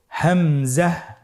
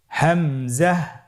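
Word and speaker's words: همزة: হামজা হরফটি উচ্চারণের ক্ষেত্রে বারিক করে উচ্চারণ করতে হবে এবং এখানে টেনে পড়া যাবে না। দ্রুত পড়তে হবে। আপনারা আমার সাথে বলুন হামজাহ হামজাহ।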